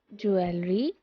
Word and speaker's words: jewelry: But how do we pronounce that piece of accessory that is made up of all these elements? Is it jewelry or is it jewelry?